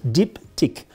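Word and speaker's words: Diptyque: struggling with this one diptych very easy diptych means two things deep tick in french we have the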